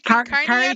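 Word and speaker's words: kauri: How do you pronounce that? Kiwi Cory. Kari. No, it's a K A U R I Curry.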